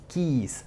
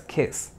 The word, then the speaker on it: keys: Keys cerciórate de que esta palabra se pronuncia Keys kys no digas Kiss porque kes es beso y esta es Keys ahora pasamos a las